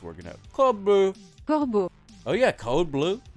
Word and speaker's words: corbeau: Corbeau. Corbeau. Corbeau. Corbeau. Corbeau. Corbeau. Sounds like cordon bleu.